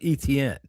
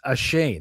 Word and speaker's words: Etienne: No, I'm talking about Travis, what you would call Travis Etienne. Right? Oh. Yeah. He said today, he said like earlier this week, I got to get this straight. My name is Ashane.